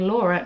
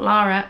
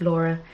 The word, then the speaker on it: Laura: the Loom vine and Laura not lara ivan realized they mispronounced i thought your name is Lara sorry it's Laura Oh jinkx yarns are